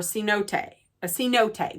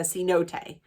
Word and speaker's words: cenote: I believe maybe like last year or a cenote, that's how you pronounce it, a cenote.